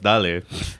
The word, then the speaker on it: Dale: language what they're like it's not dale it's dali i'm telling you there's an accent on there isn't there i don't